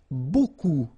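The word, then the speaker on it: beaucoup: strange B like that remember you don't pronounce the final P okay and then you get this combination of vowels a u and you get the sound o so technically it's B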